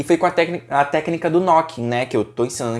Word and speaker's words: knooking: Inclusive a história do nome do knocking, né, que a gente pronuncia knocking mesmo tendo o K na frente, você encontra no e-book, então você baixa lá, tá certo?